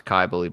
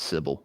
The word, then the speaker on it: Cybele: I didn't know how to pronounce Kybali before you said it, to be honest. I thought it was Sybil. There's so many different ways.